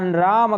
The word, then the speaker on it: राम: तो राम नहीं कहना, राम। इसमें मलंत जो हकार है, जो मकार है, उसको हलंत नहीं करना, राम पूरा उच्चारण करना है।